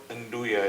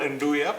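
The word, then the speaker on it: nduja: It's called Andua. It's a very strange name. It's spelled N D U J A. I only just discovered how to pronounce it. It's called Andua, but it's difficult to find.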